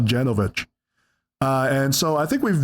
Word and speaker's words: Janovich: It's pronounced Janovich, not Janovich.